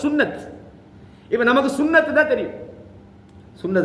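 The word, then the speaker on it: سنة: முதல்ல இப்ப நம்ம சுன்னா சுன்னான்றது அரபுல அந்த கடைசியில உள்ளது அந்த தாவை சொல்ல மாட்டான் அந்த தாவுல் மரபுத்தான்னு உதாரணமா ஆயிஷா அப்படின்னு சொல்லுவோம் அது உண்மையா சொல்லப்போனா ஆயிஷாத்து தான் அது மதரசான்னு நம்ம சொல்லுவோம் அது மதரசத்து அந்த தா வந்து உச்சரிக்க மாட்டான் விளங்கா சொல்றது அந்த கடைசில வர தா சுன்னான்றது சுன்னத் இப்ப நமக்கு சுன்னத்துன்னா தெரியும்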